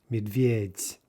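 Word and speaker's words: медведь: instead of for beer we don't say medveds we say medveds right with the final softie the word for dirt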